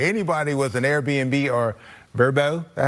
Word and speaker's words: VRBO: Anyway, anybody with an Airbnb or Verbo, that's how you say it, right?